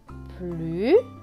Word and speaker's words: plus: Plus, le S à la fin est écrit en gris, donc il ne se prononce pas.